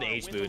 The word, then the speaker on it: Hmood: They've killed They've killed Hmood like a thousand times this game or Hammud, I guess, is how you're supposed to say his name.